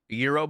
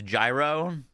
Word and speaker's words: gyro: Eurob ball. No, like a g y o like a gyro. I my understanding is pronounced Euro. A gunerable. Someone tricked you. It's gyro.